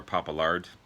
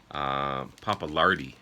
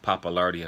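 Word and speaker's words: Pappalardi: uh poppaland um or papa lard and of course leslie west papa lardy sorry i was pronouncing that one wrong um so leslie west on lead in rhythm guitar felix papalardi on bass keyboards and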